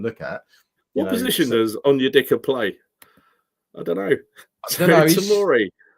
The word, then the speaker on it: Onyedika: How did you pronounce it? Onyedika. Onyekida.